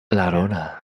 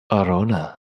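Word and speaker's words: Arjona: Larona. No, it's just there's no la. It's Oh. just Arona.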